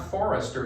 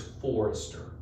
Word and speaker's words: Forrester: two syllables not one it's not Forester it's Forester so I'm like okay